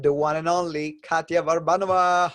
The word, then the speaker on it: Varbanova: one and only katya Barbra Nova how you doing Katya I'm doing so well I'm so impressed by your pronunciation of my name people usually say babanova so thank you we